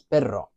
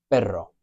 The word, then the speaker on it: perro: If I have a double R, it's always that rolling R, that trilled R, and that differentiates the word but, which is pero, from the word dog, which is perro, pero, perro.